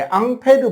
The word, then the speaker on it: 앙페르: 우리가 이제 다다음 주쯤에 전류의 자기장 이야기할 때 앙페르 법칙을 배울 거예요. 도선에 전류가 흐를 때 생기는 자기장. 그 앙페르의 영어식 발음이 암페어입니다.